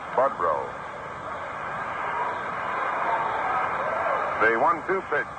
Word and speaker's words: Boudreau: Lou Boudreau, for example, they would say. But actually, he pronounced it Budrow.